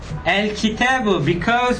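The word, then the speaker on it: الكتاب: For example, in this one, al-kitabu, because kaf here for kitab, it is lunar. That's why I pronounce everything. I said al-kitabu.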